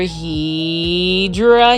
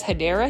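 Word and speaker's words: Hedera: And over here is another Hedra Helix or the correct way to say it is Hideera Helix.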